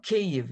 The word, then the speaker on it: Kyiv: the end k u some people use a kind of a drier way of saying it which i think is not very nice sounding so uh cave it's it's quite easy so npr listen up get it right and there's also this